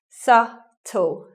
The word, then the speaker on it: subtle: Subtle, silent B, not subtle or something like that.